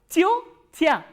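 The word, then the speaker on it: тётя: And once again, I need to tell you that this ya is unstressed. So, this will be reduced. So, how will you pronounce this word? Chio, chia, chio, chia. Chio, chia is auntie.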